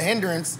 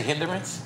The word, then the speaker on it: hindrance: somebody else have tv did he just say hinderance yep great word great word three syllables uh i did